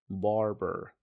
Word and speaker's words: barber: I went to the barber، وخلي بالك من كلمة نطق كلمة barber، خلي بالك من صوت الR فيها. بقول barber.